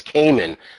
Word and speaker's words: Kamen: about my last name it's Cayman that's a long a k a m n